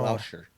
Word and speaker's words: Gloucester: Rivers says, don't pronounce the CE in Gloucester. Say Oh. Gloucester.